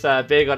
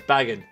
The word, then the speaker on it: Bagon: q hopefully hopefully thanks I used to pronounce Bagon as bagging oh I got it